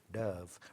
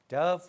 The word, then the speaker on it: Dove: Dove. Rhymes with love. Ending 15. Different, no, wrong details. That's the Dove. 15, yeah. Dove rhymes with love.